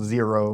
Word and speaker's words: Xero: had my own little special name it was zero with an X xero